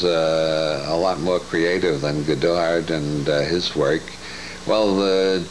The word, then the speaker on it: Goddard: Since Goddard was an American, it would be pronounced Goddard, wouldn't it?